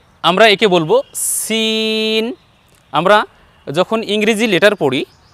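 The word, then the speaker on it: س: করছি দেখুন আমরা বলছি সিন সিন যখন আমি উচ্চারণ করছি তখন আমার ঠোঁট কিন্তু বাঁকা হচ্ছে না আর এরপরে যখন শিন বলছি সিন বলার সময় কিন্তু ঠোঁট বা মুখ গোল হবে না দেখুন আমরা এভাবে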